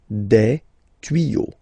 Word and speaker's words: tuyaux: Des tuyaux. Same rule, you don't pronounce it. Des tuyaux, okay?